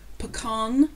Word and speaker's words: pecan: it sometimes i absolutely love the way people pronounce this um p e c a n pecan pecan nut pecan pecan no but i think it's brilliant how people